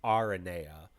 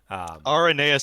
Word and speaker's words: Aranea: When Noctis talks to her, he says Aranea, focusing kind of on the R. So Aranea sounds more correct.